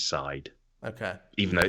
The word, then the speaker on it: Darkseid: Is it Seed? I say Darkseid. I've heard Darkseid. Apparently, even though it's clearly written Seed, apparently it is Side.